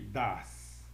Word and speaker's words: dass: vamos ver a diferença entre das e das, ok? A pronúncia é a mesma, um é com um S só e o outro é com dois S.